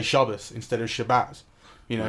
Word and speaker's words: Shabbat: You know, Shabbat is kind of the way that you would read it off a piece of paper, but if you're Jewish, then you kind of you learn to pronounce it Shabbos. That's how everyone says it.